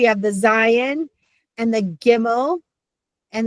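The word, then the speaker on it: Gimel: the zion and the gimmel and the gimmel is a hard g sound the samic just a regular s.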